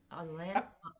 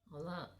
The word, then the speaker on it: Alain: It's Alain. Alain. Alain. Okay. Yeah. It's like Alan in English, but in French it's Alain.